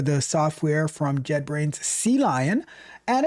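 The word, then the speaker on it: CLion: Sea lion. Like it's the letter C and then the word lion. But there's also the the aquatic animal called a sea lion.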